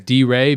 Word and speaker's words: Dire: And for Team Secret Whales, Hizto and it's spelt Dire, but my understanding is it's D-Ray, because D is the first letter of his name, Raz said, and then Ray for Aurelia.